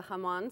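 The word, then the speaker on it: jamón: and this is a hamon sausage so it is actually from Spain as well Haman spelled because it's Spanish spelled with a J I bet that's right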